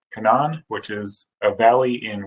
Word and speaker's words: Canaan: market now these are kanan firms so it's pronounced kanan which is a valley in west virginia where